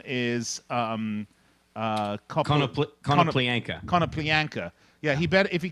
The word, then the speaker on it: Konoplyanka: Liverpool, whose name is Konoplyanka. Yeah, he better, if he comes to England, he better get used to the raunchy songs because his name, of course, rhymes with wanker.